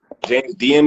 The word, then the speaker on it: James Diem: in the building we got our special guest James DM in the building am I pronouncing that right yeah okay okay dope well